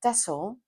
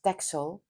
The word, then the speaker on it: Texel: Uh, we were on autumn holiday on Tessle. Um, which you write with an X. We probably known know it as Texel because everybody from England that I've heard calls it Texel, but it's pronounced double S.